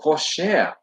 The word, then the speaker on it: Porsche: Oh, Porsche, that's how you pronounce it.